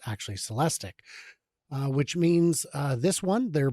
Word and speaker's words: Celestiq: Oh no, it's the Celestic. Celestic. Okay. I've been saying Celestique, but I've now been told it's actually Celestic, which means this one, their Blazer, is the Optic.